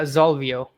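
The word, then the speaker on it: Xolvio: Uh Zolvio. Okay. So it's like a Z but it's spelled with an X.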